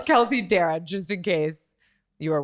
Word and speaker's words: Darragh: It's Darragh. Like, I dare ya. Darragh. Yeah, a lot of people say Darragh, Darga, Darg.